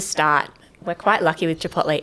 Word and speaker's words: Chipotle: the first question uh is it Chipotle or Chipotle oh look I've heard it pronounced so many different ways I go with Chipotle nice definitely not Chipotle a bit about the